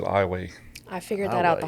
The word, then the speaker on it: Iowa: town called Iowa Louisiana it's spelled just like the state of Iowa but uh we pronounce it iway I figured that out